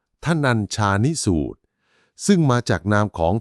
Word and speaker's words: ธนัญชานิสูตร: มี ชื่อ ว่า ทนัญชานิสูตร คำ นี้ อ่าน ว่า ทนัญชานิสูตร ซึ่ง มา จาก นาม